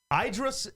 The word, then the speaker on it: Idris: Idris, that's how you say it.